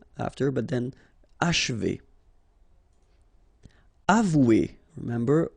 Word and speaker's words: achever: And then if you want to pronounce it the way French people will do, so don't insist too much on this and you will get achever, achever. It's a bit tricky, this combination of sh and v after, but then achever.